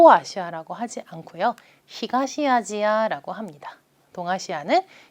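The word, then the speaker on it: アジア: 아시아 바램을 일본어로 이렇게 카타카나 로 발음할 때는 아시아가 아니라 아지 하라고 하는 것도 같이 알아두시면 좋겠어요 그래서 동아시아 라고 할 때는요 토 와샤 라고 하지 않고요 히가시 아지야 라고 합니다 동아시아는 b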